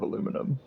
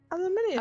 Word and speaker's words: aluminium: Show me the eum at the end of aluminum, please. Aluminium. Aluminum. I'm not saying you're wrong because that's just the way it is, but also Mm. it's spelled that way.